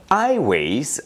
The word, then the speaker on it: Aiways: and plans further expansion highways i think is the appropriate pronunciation but their website link actually reads as ai dash ways which can also give